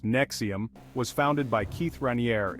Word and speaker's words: NXIVM: controversial self-help group called nxivm nxivm pronounced Nexium was founded by Keith